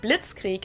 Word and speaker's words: Blitzkrieg: We pronounce it Blitzkrieg in German, and it literally translates to lightning war, because Blitz is lightning and Krieg is war.